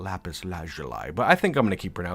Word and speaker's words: lapis lazuli: For some reason, it just feels awkward to say lapis lazuli, you know, but like that's the way it is pronounced for the most part, not lapis lazuli.